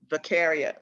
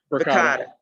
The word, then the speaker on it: Verkada: Are these, will we have to get T-Spec involved in this, or does Vicaria, I'm sorry, I can't pronounce, what's the pronunciation? Vicaria. Verkada.